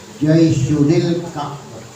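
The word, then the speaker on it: جيش الكعبة: Wa an ummil mu'minin Ummi Abdillah Aisyah radhiyallahu anha qalat qala Rasulullah sallallahu alaihi wasallam yaghsu jaisyunil Ka'bah. Jaisyun Al-Ka'bah tulisannya. Ya. Bacanya Jaisyunil Ka'bah. Sistem wasal.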